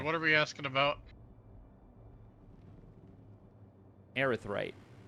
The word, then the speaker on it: erythrite: Erythrite. It's pronounced erythrite.